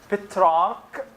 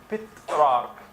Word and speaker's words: Petrarch: So Petrarch, C-H, Petrarch, exactly how you spell it.